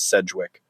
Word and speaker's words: Sedgwick: Well, it seems like it's a lot of people pronounce it differently, but the most common pronunciation I've found is Sedgwick.